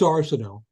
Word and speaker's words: Arsenault: radio in Brattleboro, and people kept pronouncing it wrong, so I used a different surname for all of that. So it is Arsenault.